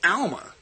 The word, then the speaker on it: Alma: L and the M from the Hebrew phonetic rules the most likely pronunciation is Alma just like the inscription writes and jigal yadin the